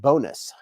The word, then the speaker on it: Bonis: Paul said fun fact my last name is actually French so it's pronounced bonis Paul bonis uh Josh said sniff